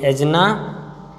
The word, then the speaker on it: Ajna: To cool and protect, and PROTECT, and protect the, किसको protect किया जाता है, द एजना, स्पेलिंग है ए बड़ा अटपटा सा है, AJNA, एजना चक्र, एजन चक्र, CHAKRA, चक्र, ठीक।